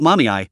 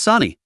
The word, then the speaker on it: Sani: It's not Mommy, it's Sani. How can you get both syllables wrong when there are only two?